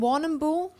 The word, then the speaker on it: Warrnambool: So you're from Warrnambool? Is that how you Warrnambool, pronounce it?